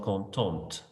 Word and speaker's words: contente: Mes tantes sont contentes. And again, I pronounce the ending, contente.